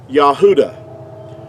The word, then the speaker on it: Yahudah: you this is like the pronunciation of the word Yahudah. Now, that's the way that you would pronounce it.